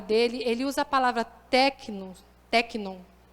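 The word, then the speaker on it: τέκνον: dentro da palavra dele ele usa a palavra tecno é assim que pronuncia tecno né significa filho imaturo criança beber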